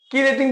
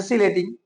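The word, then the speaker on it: chelating: প্রশ্ন তোমার কিলেটিং agent কিলেটিং অনেকে উচ্চারণ সিলেটিং ঠিক আছে কিলেটিং এজেন্ট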